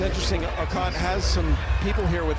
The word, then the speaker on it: Okot: from Kenya, and so they changed the way we pronounced her name. They wanted us to say it like they do, which is Okot, not Okot.